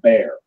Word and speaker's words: Baer: his name was Private Bear, right? Bear was spelled like Baer, Mhm.